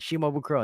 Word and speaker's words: Shimabukuro: first name wrong okay it's Shimabukuro right shimabukuro be like yes yes you got it perfect she mobile crow and they're going to